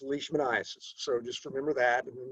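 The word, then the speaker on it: leishmaniasis: So, Lii in Scottish, pronounce the E first. If this were German, you'd pronounce the I first. So, it's it's leashmanasis, not lmanasis.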